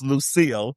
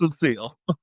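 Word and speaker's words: Lucycle: strange other than Pamela with a Y is Lucille because it looks like Lucy. So it's L U C Y C L E but it it's Lucille.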